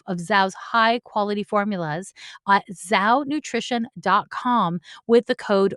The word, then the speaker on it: Zhou: why I'm excited to talk to you about sow nutrition is spelt z h o u za nutrition one